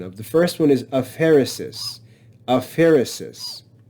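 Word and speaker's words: aphaeresis: fancy names which I'll I'll teach you the pronunciation of the first one is a Pharisees a Pharisees it's the omission of a letter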